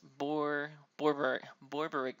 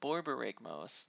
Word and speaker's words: Borborygmos: And I always mess up pronouncing this. Borborygmos. There we go. Borborygmos, the original one.